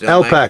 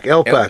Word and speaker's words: LPAC: The LMAC, is it pronounced LMAC? LPAC. LPAC, Long Island.